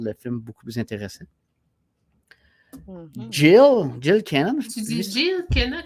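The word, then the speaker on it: Gil: Jill, on dit Jill. Jill Kenan. G-I-L.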